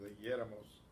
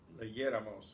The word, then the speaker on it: leyéramos: Notice we want the stress on the same syllable, so with leyéramos, leyéramos, you have to have the accent.